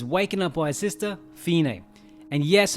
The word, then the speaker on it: Fine: The boy, Aldo, is waken up by his sister, Fine. And yes, her name is spelled like it should be Fane, but watch the old trailers and it's pronounced Fine, okay?